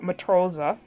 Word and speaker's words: Matrose: Like, so Matt and Rose, and so the character is gonna be named Matthew Rose, and he's gonna be like a sailor.